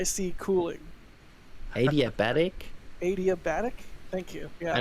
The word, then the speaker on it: adiabatic: thermodynamics called oh my god i'm going to mispronounce this uh what do i want to try okay a-d-i-a-b-a-t-i-c cooling adiabatic adiabatic thank you yeah i don't know but